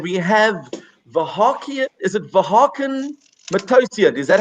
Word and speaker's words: Vahakn Matossian: Is it Vahakn Matossian? Is that how you pronounce it?